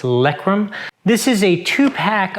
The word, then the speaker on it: LEREKAM: of really good reviews it's from lekram i hope i'm not pronouncing that wrong but it's likrum this is a two